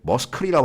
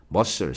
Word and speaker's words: muscle: muscle이야, 머스클이라고 발음하면 안 돼. 머슬이라고 발음하는 사람은 그래도 뭔가 배운 거야. muscle. C가 발음이 안 돼요.